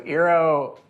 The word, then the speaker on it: eero: Yeah, so eero is actually a complete mispronunciation of the architect Eero Saarinen. We completely Americanized it.